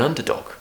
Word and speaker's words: underdog: of that under dog so we have a schwa in the middle underdog and dog if you're having problems with that just practice going did dog did dog and then add the first bit underdog underdog so we have that